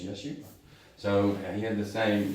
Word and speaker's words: Yeshua: And so, does anybody know how to say the name Jesus in Hebrew? Jesus. Yeshua. It's Yeshua. It's the same name.